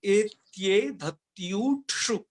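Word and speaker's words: एत्येधत्यूठ्सु: उसमें बढ़िया से उच्चारण किया गया है, और भी हम यहाँ पर आपको बता देते हैं इसको कैसे बोलना है। एत्ये धत्युत्सु, इस तरीके से उच्चारण करना है।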